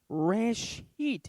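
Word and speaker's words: ראשית: beginning okay rush eat if you remove the bait at the beginning of it rash heat is a word that means beginning or or a head or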